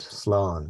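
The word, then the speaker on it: slán: lovely background to it what we say in this day and age is salon very good Sloan yes and this is what it looks like Salon with a long a Sloan and it's I I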